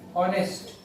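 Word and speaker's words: honest: जी means ओ के बाद, जैसे आवर, या देखिए साइलेंट है, आवर, ठीक है, आवर। ऑनेस्ट, ऑनेस्ट, ठीक है।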